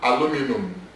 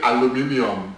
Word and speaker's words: aluminium: Now, I said aluminum because I'm using American American pronunciation. Nigerians will say aluminium. So I said aluminum. Please, it means aluminium. Aluminium. Okay? It's aluminium. Aluminium. But Nigerians will say aluminium. Americans will say aluminum.